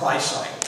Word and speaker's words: weissite: I would look at something like, it's actually pronounced Weissite.